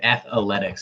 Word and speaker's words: Athletics: Connie Mack said Athletics. He said it 4 syllables. That's how I say it.